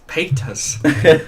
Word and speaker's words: Paytas: So Trisha, and I say it how it's spelled for some reason. It's Paytas.